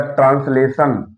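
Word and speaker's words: translation: Motion, T आई ओ एन आया है जिसका उच्चारण सा हो गया, मोशन। इसके बाद ट्रांसलेशन, ट्रांसलेशन, टी के बाद आई ओ एन आया, ट्रांसलेशन में अनुवाद करना।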